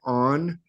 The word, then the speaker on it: On: city of the Sun the Egyptians called it something that sounds like on or or Yun some people think that